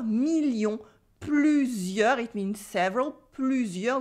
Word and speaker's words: plusieurs: Plusieurs with the U sound, a silent S at the end as well, and an E in heure.